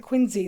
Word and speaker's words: Quincy: Adams home in Quincy Massachusetts that yes they pronounced at Quincy there and got to go in there and